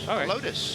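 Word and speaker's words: Helotes: And Ty, how do you pronounce that town in Texas? I want to learn something. H E L O T E S. Lotus.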